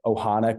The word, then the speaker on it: ohana: I know what I'm gonna the Ohana culture or whatever.